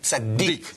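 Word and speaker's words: צדיק: The dagesh chazak with dalet, tzaddik. Correct. So we like highlight dalet. Dalet, We correct. pronounce it like tzaddik.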